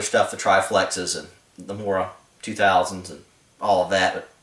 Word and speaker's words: Mora: The town of Mora, or Mora as it's properly pronounced with that kind of a long O sound, but I'm an American. I'm going to butcher any kind of foreign language, so Mora.